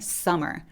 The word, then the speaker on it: summer: 썸머 근데 그게 아니라 하나 있는 것처럼 발음해 주셔야 되기 때문에 summer summer라고 해주셔야 돼요 다시 한번 어떻게 한다